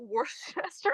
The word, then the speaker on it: Worcester: And Worcester, Massachusetts is not Worcester, Massachusetts.